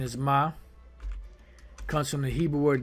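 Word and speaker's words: מם: Pronunciation is ma.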